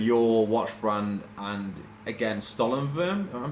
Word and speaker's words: Stollenwurm: German uh originated word, so you can say Stollenwurm and be good. So how would the French pronounce that? I'm curious to see. Uh Stollenwurm.